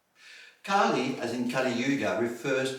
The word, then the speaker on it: Kali: a in a long e as Kali versus pronounced from short R and short e Kali Kali as in Kali Yuga refers to the demon